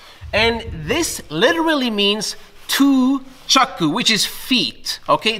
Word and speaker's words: chaku: And chaku, although the U should be silent, is actually the second part of the word. And this literally means two chaku, which is feet, okay?